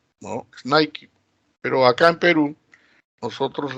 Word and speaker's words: Nike: por qué porque hay en eeuu y la pronunciación es nike y no es nike pero acá en perú nosotros le decimos nike entonces fijate es curioso y muchos nosotros todavía